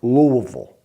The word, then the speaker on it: Louisville: Louisville Kentucky and that's how you say it Louisville I'll be at a place called laugh Louisville